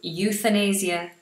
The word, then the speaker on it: euthanasia: be genocide euthanasia euthanasia should I just give you the pronunciation of that you like you euthanasia euthanasia euthanasia is to kill someone